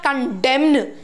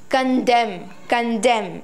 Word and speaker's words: condemn: It's not condemn. It's condemn. I hope you got it.